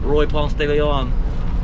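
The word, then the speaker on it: Ponce de León: He said, a buddy I went to school with in Houston, Texas, his name was Roy Ponce de Leon. So don't tell me I mispronounced that.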